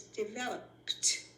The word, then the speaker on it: developed: The one that pronounces ed like a T is developed.